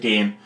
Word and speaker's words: Gein: I pronounce it Gein.